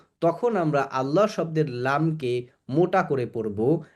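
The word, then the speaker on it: الله: আল্লাহ আল্লাহ শব্দের লামের পূর্বে যদি জবর অথবা পেশ থাকে তাহলে আল্লাহ শব্দের লামকে মোটা করে পড়তে হয়।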